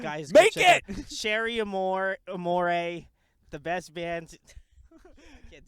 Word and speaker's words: Cherie Amour: I've already been flamed once for saying the name wrong the first time. Cherie Amour. It's Cherie Amour.